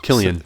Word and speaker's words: Cillian: Is that some- how his name is pronounced? Killian. Killian. It is Killian. Mm-hmm. I thought it was Cillian for the longest time.